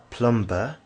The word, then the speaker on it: plumber: For example, if you've read the word plumber, which is spelt with a B, but you pronounce it plumber, and you expect other